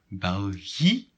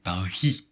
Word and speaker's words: België: it trema in Dutch, when we want to say that two vowels should be pronounced separately. Okay. Only vowels? Yes, only vowels. And separately? Yes, separately. België.